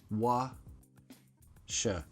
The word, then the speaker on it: what shall: Wa-sha, wa-sha, yeah, yeah, yeah. Yeah so, "what shall," usually becomes wa-sha, wa-sha. I know, weird. Say it with me, washa, washa. We don't even pronounce those L's just, we, wa-sha-we, wa-sha-we, say it with me, washawe.